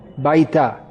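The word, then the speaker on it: బయట: Bayata. Baita.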